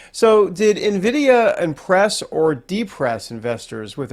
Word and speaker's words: Nvidia: Pretend there's an I. Nvidia. Yeah, Nvidia. Sorry. Okay. And and the whole AI craze, right? So, did Nvidia impress or depress investors with its earnings report last night?